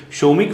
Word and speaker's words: Somik: exact Bangla pronunciation is Somik.